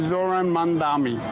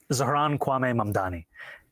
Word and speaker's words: Zohran Kwame Mamdani: This is how he does it. I'm running against a man named Zoran Mandami. He's a socialist. If you can respond to that and tell us how you say it, your full name. Zohran Kwame Mamdani.